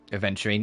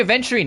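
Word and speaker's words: aventurine: There you are adding that D again. It's a venturine is in the gem. Please. You're still adding the D. It's spelled adventurine. You don't There's no D in adventurine cuz it's the gem.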